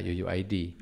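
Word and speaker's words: UUID: kalau update ini harus ada Yuyu ID pasti bacanya Ya Yuyu ID yaitu string kemudian ada nilai not listnya bisa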